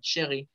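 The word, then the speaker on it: chérie: Muy si quieren decir querida, nada más agréguenle una E, pero se pronuncia igual, chéri.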